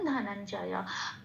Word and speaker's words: ধনঞ্জয়: তারপরে শব্দে আসি ধনঞ্জয়, ধ যেমন আছে তেমন, নন এই মহাজয়টা, ইয়া জয়টা একটু ভেঙেছি, ইয়া হসন্ত দিয়ে নয়ের সাথে জড়িয়ে উচ্চারিত হচ্ছে নন, এখানে ইয়াটার উচ্চারণটা ন ঘাসা হয়, আর জয়টা যেমন আছে তেমন, তাহলে শব্দটা পেলাম ধনঞ্জয়।